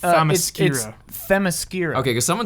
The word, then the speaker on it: Themyscira: The whole time in the movie, it sounds like she's saying the mascara. Okay, all right. But it's Themyscira or Temescira. I like. It's spelled okay. like T-H-E Miskira.